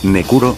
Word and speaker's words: Necro: Su nombre pronunciado en japonés, Nekuro, algo así, apareciendo por primera vez en la entrega de Street Fighter New Generation, su nombre original es Iriya.